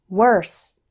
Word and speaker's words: worse: There's a similar error with word, work, worse, and world. The letter O in these words isn't pronounced like O. Instead, WOR sounds like were. Let's practice. Word, work, worse, world.